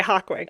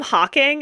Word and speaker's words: Hawkwing: Okay, Hawkwing. I always call him Hawking, and that's not correct.